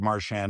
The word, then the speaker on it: Marchand: Only My- because if you listen to Brad in a commercial in Boston, and I don't know, he said, "Hi, I'm Brad Marchand of the Boston Bruins."